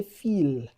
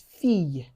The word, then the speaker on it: fille: And the last one on this list is the e l l. It sounds like y in English. For example, fille. fille You won't say feel. It's fille.